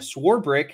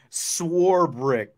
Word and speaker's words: Swarbrick: to Jesse that sworebrick how I've been saying it and schwarber are pronounced the same on the front end yes swore brick there's no there's no eight or there's no CH in swarbrick schwarber sworebrick there